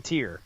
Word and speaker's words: Týr: However, hey, according to our lead singer, he's okay with even Tyr. He has no problem with you doing Tyr as well. Okay. He says a lot of Americans pronounce it that way.